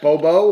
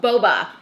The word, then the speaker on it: Boba: Bobo or Boba? Boba.